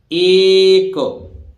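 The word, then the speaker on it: ache: ना आए तो देखिए ए सी एच ई एक तो एच याय साइलेंट है एक जानते हैं जब सतत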